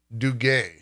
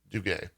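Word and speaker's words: Duguet: uh chief financial officer frederick du gaye i guess is how you pronounce that d-u-g-u-e-t i think that's do gay um but essentially this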